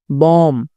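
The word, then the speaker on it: bomb: फिर वहीं एम के बाद अगर बी है तो साइलेंट होगा, टॉम, बॉम, कॉम, ठीक है ना।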